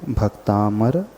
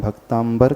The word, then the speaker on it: भक्तामर: का पड़ा है तो जो लोग भी इसका उच्चारण भक्तांबर करते हैं अथवा में बैठ चुका है वे सभी लोग अपने उच्चारण को सुधार क्योंकि देखेगा वह यही की भक्तामर लिखा है लेकिन जीव में जो